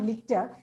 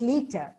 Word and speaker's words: liter: litter i'm sorry liter it's not litter it's liter reciprocate stomach stupid target